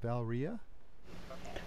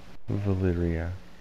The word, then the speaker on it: Valeria: How do you say that? Valria? Valeria. Valeria, or nickname Val, an acquisitor of the East Kalimdor Trading Company, and is level 70 Draenei Shaman.